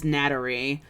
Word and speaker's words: natari: was so precious like japanese doesn't have an l that's why they have such a because that uh their l's are pronounced as ours like might technically have a really big so my uncle like my name my name in japanese is natari n-a-t-a-r-i nattery